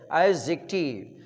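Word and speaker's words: adjective: एडजेक्टिव नहीं, D silent है, एडजेक्टिव.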